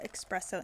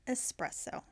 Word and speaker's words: espresso: have put some extra expresso in here expresso it's not expressed so it's espresso I have been to